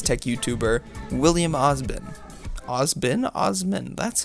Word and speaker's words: Osman: with another Science Tech YouTuber William osbon osbin Osman that's how it's actually pronounced Michael and William were pretty similarly sized